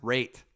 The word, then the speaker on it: right: The right is pronounced rate.